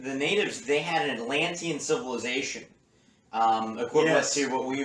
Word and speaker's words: Atlantean: And what happened was that the natives, they had an Atlantean civilization, equivalent to what we would say the 23rd century would be like. It was like Star Trek. That's 4 syllables, Atlantean.